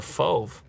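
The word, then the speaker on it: Fauve: i have selected is fov it's like a brown blue blue indigo and orange no i think i got the fove i know how you pronounce that it's like move but with an f if you look closely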